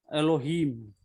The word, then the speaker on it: Elohim: So that E gives a very short sound. E gives a very short sound, Elohim.